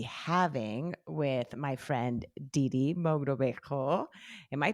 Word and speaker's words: Mogrobejo: conversation I'll be having with my friend Didi Mogrobejo. Am I pronouncing that right?